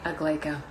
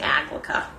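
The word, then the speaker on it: Aglaeca: for a while where a lot of people were saying applica and that wasn't gonna work so ya know it's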